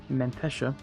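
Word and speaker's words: Menteşe: anything down here in what i've been told is pronounced mentesha i can just take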